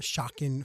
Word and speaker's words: Shocken: origin of your name, Shocken Foods? Maybe you can spell it first for everybody. So it is, first part is shock, and then instead of I-N, it is E-N, Shocken Foods.